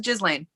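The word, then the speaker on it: Ghislaine: a verdict against uh jizz lane who's that sorry galen maxwell yeah just elaine fuller jizzling the h is not pronounced uh she's a jizz lane the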